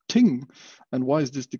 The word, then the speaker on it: thing: Actually, the pronunciation of thing is ting.